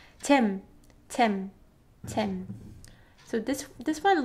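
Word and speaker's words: 잼: So in English, it's pronounced jam, right? Jam. You guys extend m sound, but we don't do that. We just end with tim, tim.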